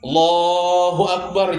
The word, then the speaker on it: Allahu Akbar: Allahu Akbar. A kurang ujungnya Allahu Akbar. Setiap huruf itu wajib diucapkan. Bila tertinggal sebuting huruf tah kada sah takbirnya Allahu Akbar J K